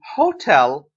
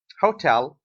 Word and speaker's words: hotel: so like noisy quiet while hotel hotel the last one tell is stressed central is the first